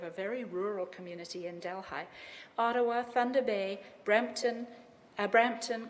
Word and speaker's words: Delhi: will start in Hamilton Delhigh spelled like Delhi in India but you say Delhigh it's a very rural